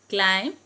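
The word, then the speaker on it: climb: അതുപോലെ silent B വരുന്നത് bomb, ക്ലൈം, കോംബ്. ഇത് നമ്മൾ ബോംബ്, ക്ലൈംബ്, കോംബ് അങ്ങനല്ല പറയാനുള്ളത്. Bomb, ക്ലൈം, കോംബ്. B silent ആണ്.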